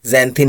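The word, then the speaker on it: xanthine: sixth word is जंथ जिसका spelling हो गया एक्स ए एन टी एच आई एन ई एक्स ए एन टी एच आई एन ई और हिंदी में इसे हम लोग जैंथिन ही कहेंगे इंग्लिश में एक्सप्लेन करके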